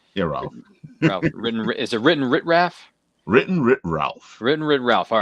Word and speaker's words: WrittenwritRalf: Is it WrittenwritRalf?